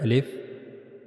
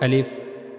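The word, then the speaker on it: ا: First we read about al if that we have to pronounce al if from the empty space of our mouth.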